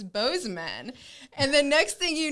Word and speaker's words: Bozeman: i'm just like me i think boozy man sounds cooler i don't know if that's really how you say it and then cole's like no i'm from there it's it's bozeman and the next thing